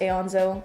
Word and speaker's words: Aonso: pronounce my last name it's pronounced Aeons Oh exactly how it's written yeah canola Oh cart